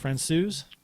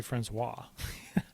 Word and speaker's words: Francouz: While how do you say his last name? Francouz. Francouz has gone. I was going to say Francois.